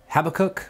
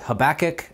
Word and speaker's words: Habakkuk: people pronounce the word Habakkuk, some people pronounce it Habakkuk, and some people that want to appreciate and preserve the Hebrew would say Habakkuk.